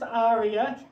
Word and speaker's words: Aria: things so quick introduction my name is Aria yes that is pronounced Arya well this is awkward